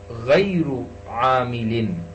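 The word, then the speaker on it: غير عامل: Harfun amilun and harfun ghayru amilin. Ghayru amilin. Now in the second term, amilin, there has kasra underneath lam, zair.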